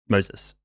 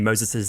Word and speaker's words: Moses: Yeah, but it's pronounced different as well. Moses is Moses. No, Moses is very like Western pronunciation. Moses. So.